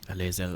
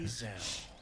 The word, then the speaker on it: Lae'zel: Lae'zel, okay, so spricht man aus. Okay. Lae'zel.